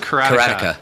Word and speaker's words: Karateka: Karateka, but it's not Karateka. Pronounced that. It's pronounced Karateka.